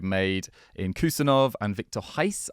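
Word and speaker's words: Reis: in kusenov and vikor Heist I've been told that that's how you pronounce it in Portuguese my Portuguese pronunciation is terrible uh but kusenov really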